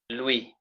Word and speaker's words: Louis: Just like now this word will be pronounced as We. Louis.